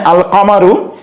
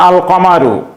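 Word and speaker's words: القمر: আলিফ লাম যুক্ত থাকে তাহলে সেই আলিফ লামের লামটি উচ্চারণ হবে যেমন এখানে আল কামারু এই শব্দটির শুরুতে কাফ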